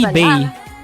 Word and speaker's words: Bae: yeah yeah yeah because it's actually bae sorry no it's actually Bae but like you pronounce her surname as be in Korean ah so her name's